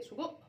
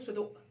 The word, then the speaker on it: سجق: في ناس بيقولوا عليه سجق وناس بيقولوا صدق. انا مش عارفه انتوا بتنطقوا تقولوا ايه، سجق ولا صدق؟ متهيألي الاسكندرانيه بيقولوا عليه صدق.